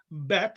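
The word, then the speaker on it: בית: How is that pronounced? B. B, like ball, right? So that's bet. It's called a bet.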